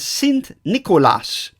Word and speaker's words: Sint Nikolaas: Nicholas in the Dutch language St Nicholas is pronounced as s Nicolas that was shortened over time to Cent Claus